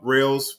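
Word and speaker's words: Reihl's: Hit up Rails Farmers Market. It's spelled REIHL''S.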